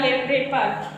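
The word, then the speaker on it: wrapper: टी आर के पहले डब्लू आया है तो साइलेंट हो गया रेपर डब्लू आर A double P ई आर रेपर and wrist W आर आई ST wrist and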